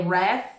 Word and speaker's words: Ralph: É que o nome dele se escreve R F, mas a pronúncia dele é ref, acho fins é para dificultar.